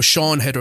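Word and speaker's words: Siân Heder: the um the writer director um is it Sayan header is her name I believe it is so no sha header is it sea as I pronounce her name okay it's written really weird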